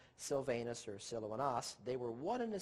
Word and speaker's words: Silvanus: From Paul, from Silvanus, properly pronounced again Silouanas, and Timotheus.